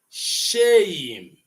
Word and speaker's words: shame: So English would want you to pronounce shame, not shame, not sham, not shame. It is shame. That's what English says. So when you're producing shame, you are gliding from A to E.